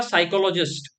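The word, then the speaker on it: psychologist: आप नेक्स्ट है आपका साइकोलॉजिस्ट देखो पी इसमें हमेशा साइलेंट रहता है ठीक है साइकोलॉजिस्ट में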